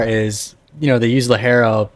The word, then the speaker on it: ligero: Actually, it's Lajero.